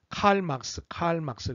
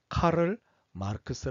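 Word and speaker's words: Karl Marx: 주제를 너무 하도록 하겠습니다 많이들 칼 맑스 칼 맑스 그러는데 에 칼 맑스는 에 미국식 발음 입니다 아 마르크 에서는 독일 사람입니다 그래서 8 마르크스 도 아니고 카를 마르크스 라고 읽어야 좋습니다 이 카를 마르크스는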